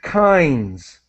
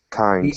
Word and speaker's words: kinds: vital very important and kinds kinds the ey sound again kinds different types or